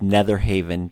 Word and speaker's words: Netherhavyn: our website which is nether Haven calm and it's spelled with a Y in there so it's an e th er hav Y n calm or of course